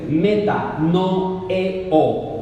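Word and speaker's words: μετανοέω: Escuche bien, la palabra arrepentimiento viene del griego metanoeo, así como suena, se escribe metanoeo.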